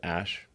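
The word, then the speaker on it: Æ: x um and then the AE is like pronounced Ash yeah and then uh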